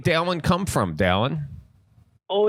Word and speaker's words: Dallin: It's like Alan with a D. No, I like It's that. like a cross between Dylan and Alan.